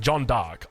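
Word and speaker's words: Jeanne d'Arc: pronouncing that correctly I believe it's actually pronounced John dark uh anyway like unironically I Googled it cuz people were like you're pronouncing it incorrectly I Googled it and it said John dark but anyway uh so that's the variant variant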